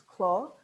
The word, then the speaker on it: Clos: our argentine red called clo de los siete a little tricky pronunciation because this is a french word we don't pronounce the s so it's not close it's claw which means vineyard de